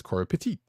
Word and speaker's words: Pettit: Color artist Brian Valenza, and letters by VC's Corey Petit. Or Corey Pettit. It depends on how you pronounce it. It's actually it's actually Pettit, but whatever.